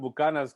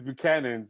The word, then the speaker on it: Buchanan's: Yeah, they call it Bucanas because but it's Buchanan's and everybody, it's like you speak English, but you can pronounce it right, but you don't have to say Buchanan's.